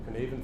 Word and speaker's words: Cynefin: I don't know if anyone familiar with the Cynefin, that's how you pronounce that, Cynefin framework, for trying to cope with this increasingly